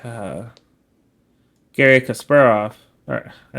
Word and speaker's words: Kasparov: weird Gary Gary I always used to say Gary Kasparov and I know that's not right so let me I'm trying to figure out how to say it in the Russian accent or Russian pronunciation not accent Gary Kasparov that's it my apologies